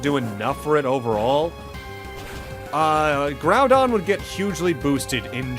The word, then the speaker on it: Groudon: I believe I always pronounce this Pokemon's name as Groudon. It's Groudon. There's no N. Well, there's an N, but there's no two N's. There's only the one.